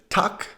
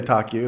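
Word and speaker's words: tack: thank you in sweden that is tuck i always thought that the swedish word for thank you was so aggressive like tokyo i don't know that's don't say taku that's not swedish if you want to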